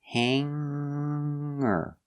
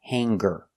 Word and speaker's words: hanger: clothes on the hanger I don't pronounce the G sound it is in the nose hanger hanger hanger not hanger there's no G hanger example I don't